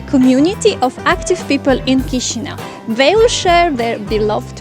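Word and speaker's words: Chișinău: let's start exploring cushino it's not cheesy now or shizuno it's kishina somebody call it the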